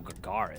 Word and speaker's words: Gagarin: Oh, Gagarin. That's how you pronounce it.